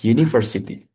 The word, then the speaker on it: university: Walaupun depannya ini huruf U, tapi karena cara bacanya U, jadi pakai Y.